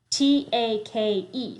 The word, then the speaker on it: take: actually a k e t a k e spells take three sounds but there's a silent e let's look at our